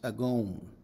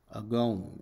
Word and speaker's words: agon: what great conflict and in the greek the word is pronounced agon agon and it means a